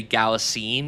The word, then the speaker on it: Galitzine: Galitzine is how it's spelled written out. Oh, So I'm gonna just say Galitzine and everything.